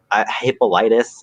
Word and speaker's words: Hippolytus: But then he comes back and finds out about Phaedra's like love for Hippolytus, I think is how you say it in English.